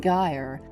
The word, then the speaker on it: gyre: Make the G hard in gyre and gimble, and pronounce wrath to rhyme with bath.